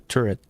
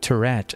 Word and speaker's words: turret: Let me just Okay, this should enable us to unlock the turret. Just let me check the pronunciation for turret because I've been seeing people saying Tourett and that weirds me out.